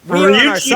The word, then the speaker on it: Ryuichi: Of course, Ryuichi Hamaguchi.